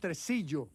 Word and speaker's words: Tresillo: It's pronounced Tresillo.